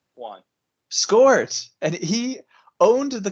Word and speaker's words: Joan: So Barcelona won 3-1, and Juan Gamper, or Joan, I don't think it's pronounced Joan, right? It's Juan Gamper. Juan.